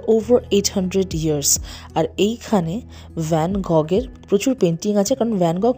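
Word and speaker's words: Van Gogh: এখানে কিন্তু জিটা সাইলেন্ট থাকে। এটাকে এইচ হিসেবে ইউজ করে। তো একচুয়াল ভ্যানগ।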